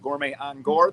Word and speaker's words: Gourmet on Gore: Gourmet on Gore. There is no the. It's a common mispronunciation.